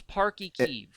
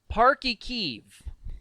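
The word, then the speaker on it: Páirc Uí Chaoimh: That's Park y Kiev. So pronounce it again, Park y Kiev.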